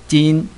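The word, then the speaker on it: 金: understanding the character means gold or metal the pronunciation is G gin yeah g in the picture there is uh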